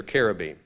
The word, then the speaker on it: cherubim: These are cherubim, or cherubs, if you will. The CH is pronounced as a K, not a Ch, and they aren't little fat babies with rosy cheeks and tiny wings.